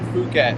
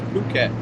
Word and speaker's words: Phuket: I've been to I Phuket. spell Lovely Jose little with place. an H. It's Phuket. It's not Phuket. It's Phuket.